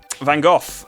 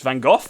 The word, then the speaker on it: Van Gogh: only thinking da vinci it's not davinci um van gogh um style background that everyone likes yeah i